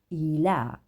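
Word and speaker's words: إلا: marked in blue and it's showing us the pronunciation of e Ela e and then you will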